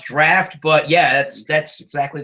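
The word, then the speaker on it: Draught: Yeah, I had that um the the Guinness drought, right? Am I correct? I believe it's pronounced Draft, but yeah, that's that's exactly the beer.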